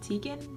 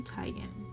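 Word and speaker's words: Teigen: pronounce her last name I've been pronouncing it wrong this whole time I've always said it Tegan but it's actually Titan just some rose-gold getting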